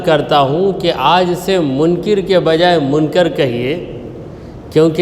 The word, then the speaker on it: منکر: کا نام ہے نکیر۔ منکر یہ صحیح تلفظ ہے، بہت سے لوگ منکر کہہ لیتے ہیں، ان کے کہنے پہ